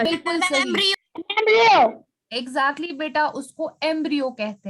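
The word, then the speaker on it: embryo: एम्ब्रियो कहते हैं, it's pronounced as एम्ब्रियो।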